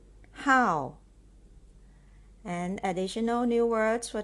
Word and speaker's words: 好: I how Hobby so this is how as the fourth tone how and additional new words